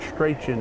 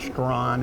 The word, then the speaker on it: Strachan: in the past, but Strachan is the way to pronounce it. We might have said Strawn at times or Strachan, but let me tell you something.